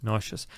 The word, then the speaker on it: nauseous: Make me nauseous.